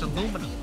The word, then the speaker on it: aluminium: way to tell is tell them to pronounce illuminum if they say alum just F yeah just [